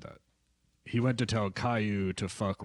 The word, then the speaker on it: Caillou: Caillou, is that how you say it? Caillou, yeah, Alright.